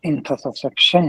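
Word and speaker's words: intussusception: خانم دکتر تگیپور، اون تلفظش انتوسکسپشن هست، شما چند بار اونو اشتباه تلفظ کردید.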